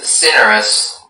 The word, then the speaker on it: cinerous: Your word is cinerous. Cinerous? Yes, cinerous. May I have all of the information? Cinerous is the only pronunciation.